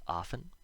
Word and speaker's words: often: So, of course, there are words where this happens, where the T is always silent, like these ones. Listen, soften, moisten, fasten, hasten, glisten, and often. You'll notice the endings of these all rhyme with in.